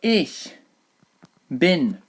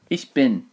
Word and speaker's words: ich bin: So ich bin. Same pronunciation as the thing that you throw your empty packets into. Ich bin.